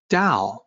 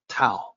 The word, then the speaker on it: 道: and credentials it's one of the reasons why da the central term is so often mispronounced with a t sound ta mispronounced not just by westerners but also by